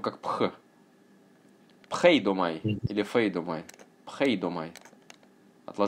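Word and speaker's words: φείδομαι: Pheidomai or pheidomai. Пхейдомаи. Глагол в депонентной форме пишется не так, а " pheidomai", что означает "жалеть".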